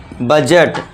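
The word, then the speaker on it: budget: डी आ गया, तो इसे भी हम क्या कर देंगे? डी को साइलेंट। इसे क्या पढ़ेंगे हम? बजट। बजट नहीं, बजट नहीं, बजट।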